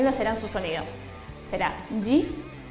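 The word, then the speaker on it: じ: Bueno, shi con tenten también será irregular y su pronunciación será ji.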